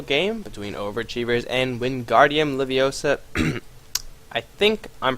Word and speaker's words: Leviosa: between Overachievers and Wingardium Leviosa. I think I'm pronouncing that correctly. Like, if for all you Harry Potter fans out there, it's Wingardium Leviosa, not Leviosa, right?